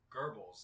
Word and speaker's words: Goebbels: nazi you mean gobble i mean goebbels that's how you say his name really it's g-o-e-b yeah g-o-e okay that's german it's gerbils i don't think that's